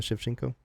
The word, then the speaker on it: Shevchenko: the greatest right now am I saying it right Valentina Shevchenko correct yes I think she's pound